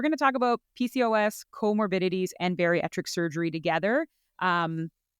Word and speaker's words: comorbidities: Because it's right in front of me, and I always call it comorbidities, but it's comorbidities. So we're going to talk about PCOS, comorbidities, and bariatric surgery together,